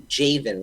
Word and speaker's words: Djavin: said your name right it's spelled with a DJ you are right most people get that wrong though it's actually jayven with a long a that's the part that